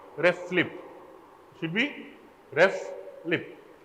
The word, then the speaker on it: RFLP: do you pronounce this it is written as rflp but when you pronounce it it should be ref flip should be rest lip